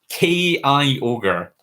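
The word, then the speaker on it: Kyogre: He says it's K-I Ogre. K-I Ogre is how the chat is telling me to pronounce that.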